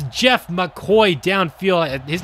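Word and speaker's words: Geoff: got his man it's jeff mccoy downfield his name keeps screwing me up because it's spelled g-e-o-f-f but it's pronounced jeff i keep wanting to call him like goff or something he comes up with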